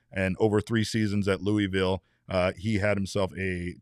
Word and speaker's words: Louisville: Did I I did I mispronounced it, didn't I? I said Louisville twice. I did it twice. Oh my god. Sorry, Brandon. Louisville. Louisville.